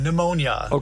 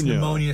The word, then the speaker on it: pneumonia: First of all, pneumonia start with a silent P, right? Um well I can tell you that uh the P in pneumonia is silent because the word is derived from the Greek pneumon or and I don't